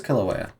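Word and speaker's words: Kīlauea: So it is Kilauea.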